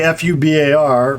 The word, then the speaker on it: FUBAR: fbi naacp tv right if it's pronounced as a word it's an acronym so fubar we don't say f-u-b-a-r right it's fubar so